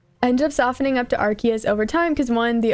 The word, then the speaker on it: Arceus: The hard C makes it sound like a classical Latin name.